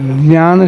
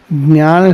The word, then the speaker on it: ज्ञान: वैसे देखा जाए तो ज और य मिलकर के ज्ञान बना है। अर्थात जब ज्ञान शब्द का उच्चारण करें तो हमारे नाक नासिका के से उच्चारण होना चाहिए। इसका जो कि पंचम अक्षर है वो पंचम अक्षर का उच्चारण हमारे नाक पर जोर आना चाहिए उस पर। अब ज्ञान बोलेंगे तो क्या होगा? ग य और न आएगा। और ज्ञान बोलेंगे तो ज और य का उच्चारण होगा।